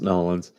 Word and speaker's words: New Orleans: It's pronounced Nolins. I'm not from Louisiana, so I don't have the Cajun accent.